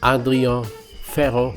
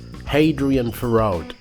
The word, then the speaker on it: Adrien Ferro: The lineup is Grammy Award winner Frank Gambale on guitar, Adrien Ferro on bass, or like the Americans say, Hadrian Ferraud, and Elmer Lewis on percussion, and Joran Rome on drums.